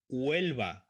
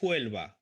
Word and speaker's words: Huelva: Okay, Huelva, no Huelva, Huelva, Huelva, because the H is mute silent.